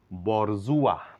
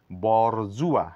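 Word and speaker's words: bourgeois: ভাই একটি উপাধি বিশেষ এটার উচ্চারণ করবো আমরা বরজুয়া বরজুয়া এখানে এস এর কোন সাউন্ড নেই এখানে অনেকগুলি লেটারের সাউন্ড নেই বরজুয়া মধ্যবিত্ত বিশেষ তাহলে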